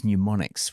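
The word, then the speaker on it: mnemonics: were like no we we use pneumonics with a silent m and sonic uh branding and logos and they're all wonderful and I call them whatever they are.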